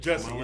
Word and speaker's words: Jussie: Jussie Smollett. Is that how you say it? Jussie.